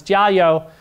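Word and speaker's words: 加油: these characters here and Mandarin at least pronounce Jia yo which is like it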